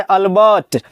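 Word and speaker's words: Albert: पूरा नाम है अल्बर्ट। हां। बीच में र भी होता है लेकिन र होता है साइलेंट। हां। अल्बर्ट लेकिन आर साइलेंट हो गया।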